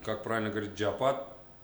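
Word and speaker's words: чиабатта: Нет, я вообще им сделал бургер в, как правильно говорить, Чабат? джиабата. Чабата.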